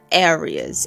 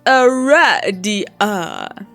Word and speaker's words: Aradia: You must have said Aries out loud, because she immediately corrects you. It is pronounced Aradia.